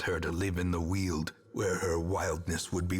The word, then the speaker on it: Weald: to live in the Weald, where her wildness would be welcomed. Oh my god, he confirmed it. I could have looked it up this whole time, but it's Weald, dude. It's not Weld.